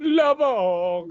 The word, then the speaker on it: LaVogue: LaVogue. LaVogue. Vogue. Like Vogue magazine.